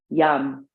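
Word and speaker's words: yam: baristana at the tip of the tailbone seed syllable for spotistana is yum y-a-m bring your mind to there inhale yum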